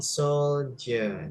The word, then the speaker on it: soldier: Satu aja correction dari saya ya ketika bilang soldier. Nah, jadi eh tentara itu tulisannya memang pakai D ya, tapi bacanya pakai J. Soldier.